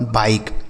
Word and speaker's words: bike: जैसे बी से हो गया बा, इस आई का उच्चारण आई तो हो गया बाई, के और ई से क हो जाता है, यह लिखा गया आपका बाइक। इसे क्या पढ़ेंगे? बाइक, ठीक है। BIKE बाइक।